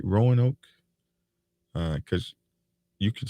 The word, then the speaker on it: Roanoke: Roanoke? Because you could say that a whole bunch of different ways, Roanoke or whatever. But over there in Roanoke, that's how I say it.